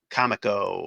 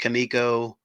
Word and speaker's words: Comico: uh older issue of Johnny Quest from Comico or Kamiko. I don't know. People are saying it's pronounced Kamiko, but to me that doesn't make sense because it's a comic, so it should be Comico, but they say it's pronounced Kamiko.